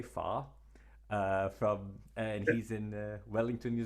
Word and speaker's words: Farr: I was trying to pronounce it more or less New Zealand way, Farr.